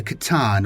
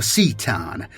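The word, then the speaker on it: C'tan: Cawl had learned it was powered and controlled by the shards of the Catan or Cetan, depending on your pronunciation, and he hoped to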